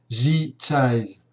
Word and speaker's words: J-Chise: Alors, cette plateforme, on y vient maintenant, elle s'appelle, c'est une plateforme professionnelle qui s'appelle G-Chise. Alors, Chise, ça s'écrit C-H-I-S-E, c'est la fin du mot franchise.